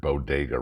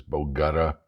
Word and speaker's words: bodega: Uh, Yesterday out there, can't even pronounce, in a speech to Hispanics, can't even pronounce the word bodega right. What you pronounce it as bogutta, something like that.